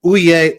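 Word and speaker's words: oyez: tribunal under the UCMJ, the baiff comes out shouting ouay ouay ouay. And you're like, what's this uay stuff? It's spelled like oyz. It's Anglo Norman French.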